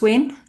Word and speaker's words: Win: So my name is Win and I'm from Vietnam and uh my name can be pronounced like W I N and uh I